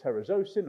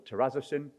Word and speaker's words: terazosin: for high blood pressure and enlarged prostate called terzosin or terzin depending upon your pronunciation has a side effect of also activating PGK1.